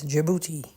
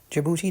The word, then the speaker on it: Djibouti: The first place I'll mention is Djibouti. Wait, I know what you're thinking. Djibouti does not start with A. You're right. Djibouti doesn't even start with what it sounds like. It sounds like J.